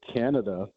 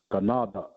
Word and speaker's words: Canada: So actually the word Canada is actually an airquan word uh from our language because it's actually supposed to be pronounced ganada which is our word